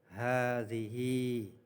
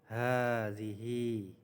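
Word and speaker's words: هذه: Jadi ha yang pertama fathah panjang dan ha yang terakhir juga panjang. Jadi bacanya hadzihi hadzihi hadzihi saburatun hadzihi thollasatun.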